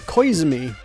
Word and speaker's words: Koizumi: She pronounced it Koizumi. I wouldn't have thought what very, very minimal I know about Japanese pronunciation. I would have thought it was Koizumi, not Koizumi.